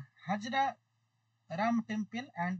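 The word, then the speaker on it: Hazara: হাজারা না হাজরা। স্যার আপনি প্রথমটা কি বললেন স্যার? আচ্ছা, এই প্রথমটা স্পেলিংটা আমি স্পেলিংটা বলছি, উচ্চারণটা কি হবে? HAZAR, হাজারা না হাজরা? হাজারা হাজারা। হাজারা, তাই তো, ঠিক আছে।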